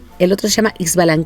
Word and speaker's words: Ixbalanqué: el otro se llama ish ballan que no nos olvidemos que hay muchas setas en el idioma maya y muchas que se pronuncian como jota pero se escribe así ixbalanqué y su balance y